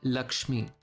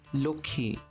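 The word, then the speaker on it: লক্ষ্মী: Take for example the word Lakshmi in Hindi. This word is pronounced as Lokhi in Bangla.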